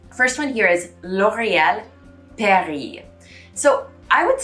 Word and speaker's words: Paris: the brand isn't paris because the s at the end the word paris is not pronounced so on top of the s you need to get rid of in french the i usually makes an e sound so just like the city isn't pronounced paris in french it's pronounced